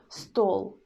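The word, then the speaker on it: стол: We pronounce L in the end hard.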